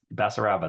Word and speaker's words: Basaraba: Basaraba, that's great.